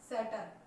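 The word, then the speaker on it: subtle: याद रखने की है, साइलेंट लेटर यहाँ पर बी आपको नजर आ रहा होगा। इसका मतलब ये हुआ कि ठीक टी से पहले बी साइलेंट होता है। टी से पहले अगर बी आ जाए तो वो क्या रहेगा, साइलेंट रहेगा, बोला नहीं जाएगा।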